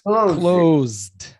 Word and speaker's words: closed: It's closed. No, it's not two syllables. It's one Closed. syllable.